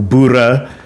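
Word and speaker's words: Boere: So I'm not a bur. But in any case, they refer to themselves back then as Bur or Bura rather in the correct African pronunciation.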